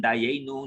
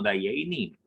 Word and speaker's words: Dayenu: Y eran de esos judíos de Galicia Europa del Este que no pronuncian Dayeinu, sino Dayeini.